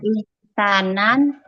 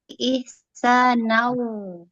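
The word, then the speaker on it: إحسانا: Cara membacanya yaitu tanwinnya dileburkan ke dalam huruf waw. Huruf tanwinnya bukan ihsanan, tapi ihsanau.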